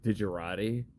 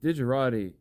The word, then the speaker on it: Digerati: sociopathic man i believe his name was supposed to be pronounced digirati like illuminati but i this was so